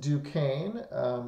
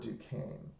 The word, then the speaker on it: Duquesne: and that fort was called Fort Duquesne as pronounced Duquesne if you know French he'll understand that if you don't know French just trust me it's pronounced Fort Duquesne Native Americans were actually allies of the French